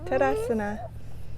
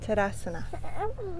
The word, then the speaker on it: Tadasana: TADASANA. TADASANA. Let's say it together again. TADASANA.